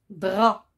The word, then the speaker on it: drap: aussi peut être muette un drap il se termine par paix se paie c'est une lettre mienne on ne le prononce pas un drap on dit un drap